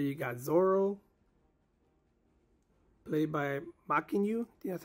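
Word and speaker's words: Mackenyu: so right there you got Zoro played by maku that's how you pronounce his name and you got Nami over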